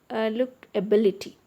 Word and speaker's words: ability: In case of look ability, A is 1 syllable, B is second syllable, L is third syllable and T is fourth syllable. It has 4 syllables. Ability. So the third syllable from